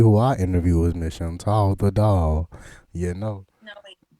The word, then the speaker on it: Chantal: So Chantal the doll, the tall rhyme with doll, and that's what I went with.